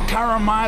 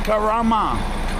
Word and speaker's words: Karama: It's not Karama, it's Karama.